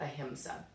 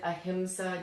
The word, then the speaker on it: ahimsa: But I think that because the convention is to spell it like this, we've come to pronounce it more like ahimsa. So no worries, you can pronounce the word either way.